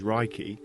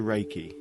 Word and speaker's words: Reiki: meaning universal life force although the proper Japanese pronunciation is Reiki it has been westernized to Reiki Rey means Universal omnipresent